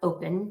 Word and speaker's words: Opn: Oticon introduced the Oticon Open device. It's spelled OPN.